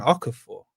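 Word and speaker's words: Okafor: Okafur. Is that how you pronounce that?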